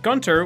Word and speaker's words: Gunter: Sometimes the U in Gunter would possess an umlaut and other times it wouldn't, which would cause Tom Kenny to pronounce it differently.